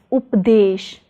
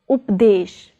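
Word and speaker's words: ਉਪਦੇਸ਼: As you can see, this word contains the prefix up followed by word desh. So it will be pronounced as updesh, updesh.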